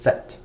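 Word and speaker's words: sept: Notice we did not pronounce the p over here. Right? So the p is not pronounced. It's just set.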